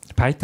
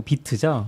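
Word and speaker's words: Vite: 근데 뭐 요즘 비트를 많이 쓰니까 비트 기반으로 해서 하시는 경우가 많은 것 같긴 해요. 바이트 아니고 비트죠? 비트로 그 읽는다고 비트로 읽는다고 하더라고요.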